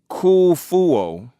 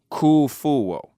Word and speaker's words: Khufu: and that is because K fuo regardless of the spelling it is actually pronounced the same K fuo and it would actually